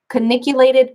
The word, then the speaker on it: cingulate: understanding of the, I'm not sure if I pronounce this right, anterior cingulated cortex.